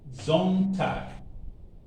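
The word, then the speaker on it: Sonntag: and certain words so s is pronounced z you should bear that in mind so let's go once again this is z so how would it be pronounced zone tag there are situations where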